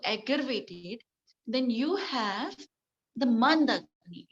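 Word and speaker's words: मन्दाग्नि: That is a mandagni. Man, the pronunciation mand agni.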